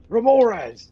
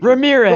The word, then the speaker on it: Remorhaz: Here, I'll spell it. Remorhaz. It's like an MWT. Ramirez.